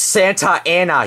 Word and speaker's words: Santa Ana: so far we been to S California it's pronounced Santa Ana you idiot well you're wrong Walter I think